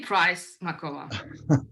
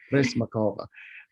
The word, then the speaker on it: Prysmakova: I don't know why I'm having trouble with that extra syllable I'm putting in there. Say Prysmakova. Makova, Prysmakova, who is the assistant